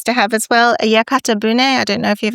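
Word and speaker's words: yakatabune: A yakata bun.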